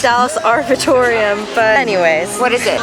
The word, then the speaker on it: Arboretum: Mom we're at the I think I was pronouncing it wrong earlier I said it's arbitorium but that's right no it's um how do you say it I thought it said Dallas Arboretum but anyways what is